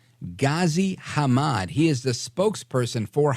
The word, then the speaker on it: Ghazi Hamad: So that again is, I don't want to mispronounce his name. Hang on here. It's Ghazi Hamad.